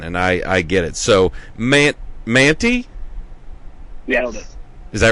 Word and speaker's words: Mantey: But I've got Gus and Max Mantley. How do you say that? You said Stella always mispronounces it. So Manti.